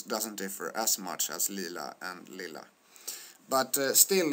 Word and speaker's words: lila: Lea and Peter pet what you see and what you hear is that uh in the Lea Lea example there are two l which makes uh Lila pronounced the way it's pronounced with a short vowel uh this these words